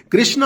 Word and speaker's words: कृष्ण: उत्तर भारत में हिंदी की Devanagari script speech में आ का साउंड ड्रॉप कर देती है। जैसे रामा हो जाता है राम, कृष्णा हो जाता है कृष्ण और शिवा हो जाता है शिव और योगा हो जाता है योग।